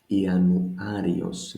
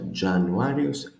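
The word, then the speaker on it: Ιανουάριος: All of them end at ios. Ianuarios, not Januarios, Ianuarios.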